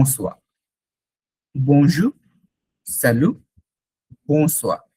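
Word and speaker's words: bonsoir: আপনাকে তখন বলতে হবে বো সোয়া। ওয়াই থাকলে ওয়া, বো সোয়া। বো সোয়া মানে হচ্ছে গুড ইভিনিং। বো সোয়া, গুড ইভিনিং, বো সোয়া। বনজু, স্যালু, বো সোয়া, বো সোয়া।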